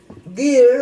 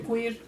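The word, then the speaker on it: queer: llegan lesbianas, sí nos llegan este homosexuales, pero gear o gear o cómo se pronuncia. Quir.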